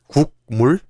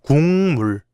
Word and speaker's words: 국물: How do you pronounce this word? Is it 국물? No, it's 국물. That's because when 기역, 디귿, or 비읍 come before 니은 or 미음, they change to nasal sounds, 이응, 니은, or 미음.